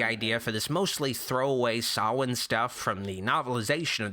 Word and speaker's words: Samhain: Loomis finds the word Samhain written in blood at a school, which Loomis mispronounces as Samhain.